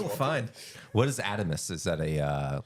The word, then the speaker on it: Adomas: Okay, It's technically Adomas, but like no, right. I got you. Americanized. Yes, Adomas. Okay. Adomas is not the Americanized version. That's the Americanized pronunciation of Adomas.